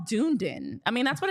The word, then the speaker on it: Dunedin: It should just be Dunedin.